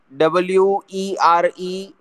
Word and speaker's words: were: WERE is not where.